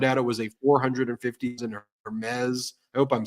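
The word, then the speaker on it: Hermès: I I think it's I think it's Hermes I thought it was Hermes I don't think you pronounced the h okay well anyway so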